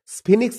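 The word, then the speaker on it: Sphinx: কি মা দ্যাটস দা স্পিংস ঈশান ওটা হলো স্ফিনিক্স Ishan that's the স্ফিনিক্স ঈশান ওটা হলো স্পিনিক্স হ্যাঁ উচ্চারণটা স্ফিনিক্স হবে ইটস এ রক স্ট্যাচু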